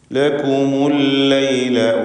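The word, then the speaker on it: لَكُمُ اللَّيْلَ: ലക്കും എന്നതിലെ സാക്കിനത്തായ മീമിനെ ദമ്മ കൊടുത്തുകൊണ്ട് ഉച്ചരിക്കുന്നു. കാരണം ഇൽത്തിഖാഉ സാക്കിനൈൻ പരിഹരിക്കുവാൻ വേണ്ടിയാണ് അങ്ങനെ ചെയ്യുന്നത്. ലകുമുൽ ലൈല വന്നഹാറ വന്നഹാറ, നൂനിനെ മണിക്കണം.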